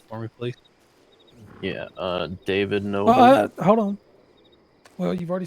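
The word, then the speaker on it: Knoble: You said your last name was Noble, right? N-O-B-L-E? K-N-O-B-L-E. Oh, K-N-O-B-L-E. My apologies. That's novel. Well, no. If you spell the word known, Known, it's still pronounced as no. The K so is silent.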